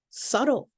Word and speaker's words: subtle: Okay, the next one is subtle. Subtle. You see how that B is silent?